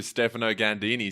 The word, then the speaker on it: Stefano Ganddini: I'm speaking to Stefano Ganddini.